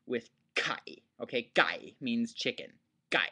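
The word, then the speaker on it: ไก่: of all that why I think it should be spelled g and not k um because if you spell it with a K the the tendency of the learner is going to be to pronounce it as exactly that a k okay now let's take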